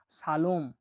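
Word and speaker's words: salom: পরবর্তী অক্ষরটি হলো এস, এস এর উচ্চারণ হয়ে থাকে দন্ত স এর মতো। আমরা উদাহরণ দেখছি, দেখুন, সালোম, সালোম, সালোম মানে হলো সালাম, সালোম মানে সালাম, সালোম মানে সালাম।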